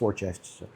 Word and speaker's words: Worcestershire: I know how to say it. It's Worcestershire.